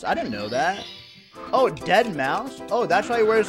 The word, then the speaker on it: Deadmau5: Beast versus Deadmau5. Oh, Deadmau5? Oh wait, really? The 5 is pronounced like an S? I didn't know that. Oh, Deadmau5?